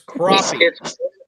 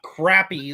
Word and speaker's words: crappie: Hey, it's crappie. It's not crappy like a certain part of the nation calls them Crappie.